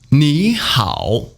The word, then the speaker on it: 你好: 你 you 好 good well okay fine 你好 hello hi. Don't forget turn 你 into the second tone.